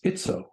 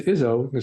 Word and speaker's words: Izzo: His name was Bob Izzo, but the real Italian pronunciation was Izzo. Right. But it got Americanized into Izzo.